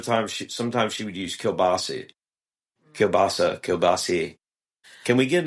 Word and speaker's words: kielbasa: No. It's kielbasa. It's kielbasa. Kielbasa. That's not how it's said. But we say, like I say, kielbasi. Kielbasi. No, I know, but I think that's the proper way to say it.